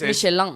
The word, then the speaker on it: Michelin: porque es Michelin. es Michelin. Oh, lo ¿Sí, he estado Michelin?